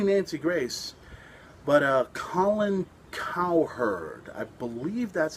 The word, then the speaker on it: Cowherd: name sucks and secondly cowherd kind of sounds like cow herds i see a herd of cows oh my god but